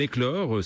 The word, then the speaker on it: Eklore: C'est presque demain, et Éclore s'écrit E-K-L-O-R-E.